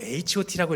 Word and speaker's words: H.O.T: 네, 핫이라고 하지 말고 H.O.T라고 읽어라.